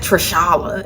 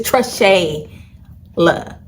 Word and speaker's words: Trishayla: I like correcting people. It's Trishayla, my full name, okay?